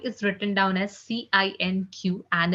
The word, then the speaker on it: cinq: 5 is written down as Cinq, and it's being pronounced as cinq.